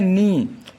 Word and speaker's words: knee: जैसे कि होता है नी, KNEE लिखते हैं, पढ़ते हैं नी, यहाँ के को हम साइलेंट कर देते हैं, नहीं बोलते हैं, NEE को ही बोलते हैं नी, नी मतलब होता है घुटना।